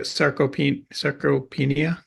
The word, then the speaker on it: sarcopenia: Sarcopenia?